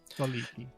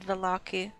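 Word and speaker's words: Vallaki: Veliki. There's a pronunciation guide and it gives like 3 ways of saying it. Yeah, our previous DM said Valaki. That's why I thought. Yeah. All of them are fine, all of them would be recognized.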